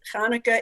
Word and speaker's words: Hanukkah: it can be tricky because hanukkah is not an english word it's a hebrew word and the first letter has no equivalent sound in english the first letter is pet there's no in english so people in english kind of make it up as they go along that they do it